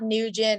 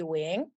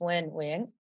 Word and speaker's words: Nguyen: Yeah, it's not Nugent, it's not Nguyen, it's not Nguyen. I mean, if we were to really pronounce it in the Vietnamese, it would be Wing. And so it's Wing.